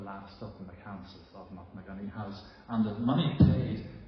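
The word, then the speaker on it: Knocknagoney: I've heard that place name pronounced Knocknagunny as a rule, but I was trying to find from East Belfast says Knocknagunny, so that's what I should be sticking to.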